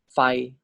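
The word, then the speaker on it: ไฟ: And then Sara I, so this is pronounced as Fai.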